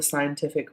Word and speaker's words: scientific: subjects were all the scientific ones great and just while we're on that word scientific is the pronunciation it's quite often an one the Italians find difficult so not shy but sigh scientific Italian and English literature